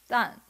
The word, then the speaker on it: 旦: Interestingly, out of coincidence, the pronunciation of this character in Chinese is dan. Sounds similar to down, right?